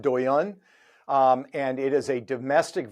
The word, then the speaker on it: Douyin: I think it's pronounced Douyin.